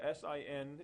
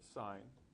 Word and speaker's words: sine: stating these at the SI n is representing sign and you'll pronounce it sine it's not pronounced sin this is just the